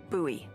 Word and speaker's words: Bowie: out this huge Rusty Bowie knife it's actually pronounced buoy what no it's like the last name like